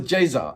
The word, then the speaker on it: Ceza: now what's his name his name is Jaa now it's spelled c e z a and I would never known it was Jer until I put it into Google translate and I was thinking